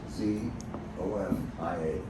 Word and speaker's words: Zofia: Is the proper name in Polish. It's 3 syllables, Z-O-F-I-A, Zofia.